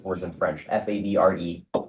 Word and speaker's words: Favre: No, I just It's because I can't pronounce words in French. F A B R E.